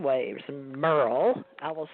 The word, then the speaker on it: Merrell: thank you TJ actually my parents spelled my name like it should be pronounced Meryl but it's Merle like Merle Haggard all right Merle okay